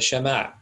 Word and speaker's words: Shema: this is called the Shema it's roughly pronounced something like scheme' yes sir I yield